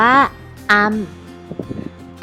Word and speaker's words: อำ: สระ อำ กัน ค่ะ สระ อำ อ่าน ออก เสียง ว่า อำ อำ เด็ก ๆ ลอง ออก เสียง ตาม นะ คะ สระ อำ เนี่ย จัด เป็น สระ เกิน ค่ะ เป็น สระ เกิน เสียง สั้น นะ คะ ดัง นั้น สระ อำ จะ ออก เสียง เป็น เสียง สั้น ค่ะ ตำแหน่ง ของ สระ อำ